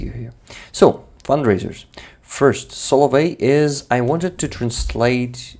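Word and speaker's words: соловей: No, you see now how it's written, but it's pronounced like Solovey.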